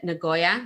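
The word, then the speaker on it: Nagoya: talk about the city is it ngoya is that how you say it yes okay that's correct have you have you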